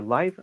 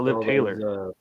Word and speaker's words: Liv: Liv Taylor is, or Live. How do you say, Liv or Live?